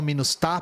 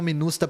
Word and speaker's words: MINUSTAH: para responder o Nate os haitianos falam minust tá porque eles falam francês então o francês tem a tônica na última sílaba né mas tanto faz é um acrônimo então eu chamo minusta porque eu acho mais mais intuitivo pros brasileiros né mas tanto faz